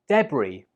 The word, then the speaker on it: debris: Debris. Debris. Or if you're from America, you pronounce it like debris. The important thing to note here is that the S is silent.